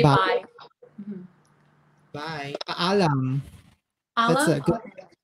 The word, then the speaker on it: Paalam: Paalam. That's a good, okay. It's a goodbye. Paalam. In Tagalog. Baalam?